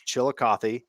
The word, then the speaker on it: Chillicothe: He's in Chillicothe. And for those of you that are listening, that's the proper way to say it. It's Chillicothe, and it's the Scioto River, not the Scioto.